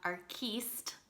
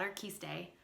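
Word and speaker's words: Arquiste: the correct pronunciation is so we have our keist not our quiste our keist anima dulces and this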